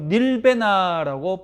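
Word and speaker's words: נִלְבְּנָה: 우리가 벽돌을 만들자 히브리어로 닐베나라고 발음합니다.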